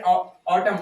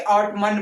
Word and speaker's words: autumn: जैसे AUTUMN, इसको हम क्या पढ़े ऑटम, ऑटम क्या होता है पतझड़, ऑटम पढ़ रहे हैं कि ऑटमन पढ़ रहे हैं, ऑटम या ऑटमन, ऑटम, ऑटम वहां पे रुक रहा कि